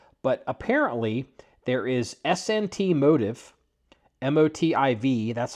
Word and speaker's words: Motiv: But apparently there is SNT Motive, MOTIV. That's how they're pronouncing it and spelling it.